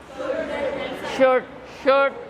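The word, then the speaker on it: should: Then again शुड, कुड, वुड, ऐसे इस तरह के मॉडल वर्ब्स होते हैं, इसमें एल साइलेंट होता है।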